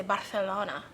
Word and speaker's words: Barcelona: But I'm in Barcelona, or as some people say, Barcelona. They do? Yeah, because I think that they pronounce that sound a th in that area.